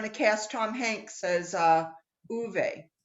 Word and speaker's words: Ove: Uwe, O-V-E. It's like sweet.